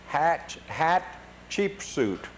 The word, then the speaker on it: Hatshepsut: And then at this point we got to the Deir el-Bara, the temple of, they told us to pronounce it Hatshepsut.